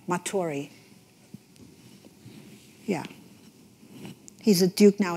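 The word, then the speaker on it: Matory: um james r matori m a t o r y it's like you spell that again i'm sorry m a t o r y maturi yeah he's a duke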